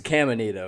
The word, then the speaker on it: Caminita: It's Caminita. Caminita? With an M.